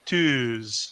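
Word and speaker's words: tűz: for our American uh but we pronounce it twos so you actually have to hold the uh a little bit longer if it was just two dots it would be deuce and that would be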